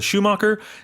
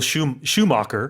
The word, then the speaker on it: Schumacher: Americans will even pronounce it Michael Schumacher. 슈마카. Schumacher. 이렇게. But I understand, I think it had German roots, but Michael Schumacher. 맞아. Maybe, 이게 영어가 Yeah. 사실 뭐라 그래야 되지? It's anglicized. Yeah.